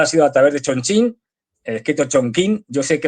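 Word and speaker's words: Chongqing: a la vuelta ha sido a través de Chonchín, escrito Chonquín. Yo sé que lo de Chonchín suena muy de coña, pero es que es así como se pronuncia.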